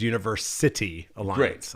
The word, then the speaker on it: University Alliance: do you say it I say it as Universe City Alliance I just put the emphasis on City okay terrific of course